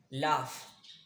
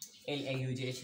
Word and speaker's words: laugh: If you are pronouncing the word laugh, L-A-U-G-H, laugh. So there will be F sound, laugh.